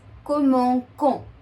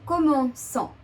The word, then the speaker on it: commençons: the conjugation ONS, and if we don't add the cedilla, we'll have the pronunciation as comment con. We'll have a K, the K sound. And that's what we don't want.